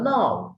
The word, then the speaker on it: know: The clause which acts as a noun is called noun clause. যে clause নাউনের ন্যায় কাজ করে তাকে noun clause বলে। যেমন I know who has stolen my pen. K-N-O-W. উচ্চারণ হবে no.